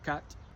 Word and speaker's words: quatre: Take the word quatre, or quatre, en français. See that little r e at the end? You got to pronounce that.